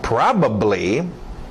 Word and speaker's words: probably: Probably, batido no A, probably. Pronúncia rápida aqui, probably. Se quiser deixar o só e o final blee.